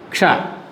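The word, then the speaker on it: क्ष: Ksha is formed by 2 letters. Look at this, children. Ka, sha, ksha. Ka, sha, ksha. So this is formed of two letters. That's the reason it should be pronounced as ksha.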